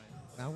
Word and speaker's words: Justin Mowen: All right, we're joined by Justin Mowen. Is that how you pronounce it? Maui. Mowen? Yeah, Maui, yeah.